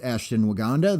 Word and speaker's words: Ashtonwagandha: So, you can find me on the internet at ASHTONWAGANDHA, pronounced Ashton Waganda.